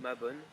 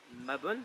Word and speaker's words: Mabon: il est appelé autrement, il est appelé Mabon ou Mabon, ça dépend comment vous voulez le prononcer, mais elle existe toujours.